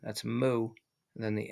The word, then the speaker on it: mu: to use this unit moo that's the moo and it's a Greek letter it's pronounced moo and so they'll have